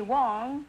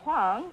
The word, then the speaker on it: Wang: I'm so smart huh is that how you pronounce it uh Wang well the Chinese call me Wong Wong and the Korean call me Huang and the Americans call